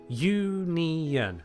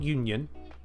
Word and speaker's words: union: Is union 2 or 3 syllables for you? Union. 3. Union. Not union. Not union. It's union. 3.